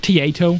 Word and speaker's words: Taito: But also one of 3 Taito figures. Am I saying that right? Taito? It's pronounced Tieto.